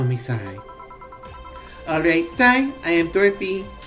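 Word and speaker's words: Sei: Call me Sai. Alright, Sai, I am Dorothy. Say Sai. Yes, yes. Sai, say. Yes, yes. Say, say. Oh, it's supposed to be pronounced say.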